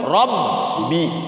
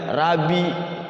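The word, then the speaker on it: ربّي: Tasydid itu cara bacanya sukunkan dulu Rabbi. Jangan Rabi atau Robi.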